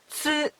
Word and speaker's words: つ: This is big tsu. We pronounce it as tsu.